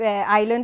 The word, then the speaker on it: island: In English we have something which are silent. I could put 5 million here. I chose a few, but island is a typical one, yeah? It's island, iron.